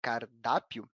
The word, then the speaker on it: cardápio: Já a palavra cardápio possui acentuação na penúltima sílaba, na sílaba mais forte, a sílaba da.